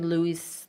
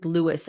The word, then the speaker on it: Lewis: I keep hearing Louis. Louisis like she's His name is not Louis. I've been mispronouncing Lewis. Actually, I've been saying it wrong.